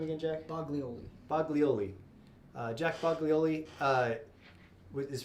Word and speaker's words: Boglioli: you say your last name again jack boglioli boglioli uh jack boglioli uh is from new mexico